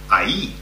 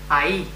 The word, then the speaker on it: ahí: Okay, but then we've got ahí. Ahí, okay, ahí, which is spelled A-H-I with a... with an accent.